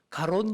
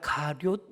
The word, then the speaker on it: 가룟: 이름부터 바로 막 힘들어요 가롯 유다가 아니라 가룟 유다 합니다 해보니까 잘 안되더라구요 발음부터